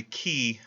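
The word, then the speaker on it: Quay: Now, Cameron dies in 1889, and he's succeeded by Matthew Stanley Key, this is pronounced Key, Q-U-A-Y, as the second boss of the Republican machine in Pennsylvania.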